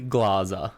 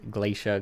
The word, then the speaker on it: Glaser: go Glazer GL glaza I guess it's technically glaza glaza but I've never corrected anyone ever and I'll accept glacia glaza glaca glacia if you were like